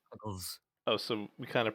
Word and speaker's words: Picklezz: I think you're pronouncing it wrong. It's supposed to be pickles. So we it's just- pronounced pickles.